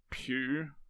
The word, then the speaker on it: Pugh: I'm not sure how you pronounce it last name. It's probably pronounced Pew, but Pugh, I'm okay. going to say Pooh.